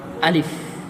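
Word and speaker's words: ألف: আলিফে কোন টান হবে না। আলিফ আলিফের উচ্চারণের শেষে ফ উচ্চারণ হবে। কিন্তু বাংলার খর মতো নয় বরং সামনের দুটো দাঁত ঠোটের উপরে কামড় পড়বে। আর সাথে সাথে একটু হাওয়া বের হবে।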